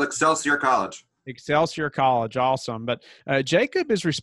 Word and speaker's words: Excelsior College: Yeah, I couldn't pronounce the name of it. Oh, it's called Excelsior College.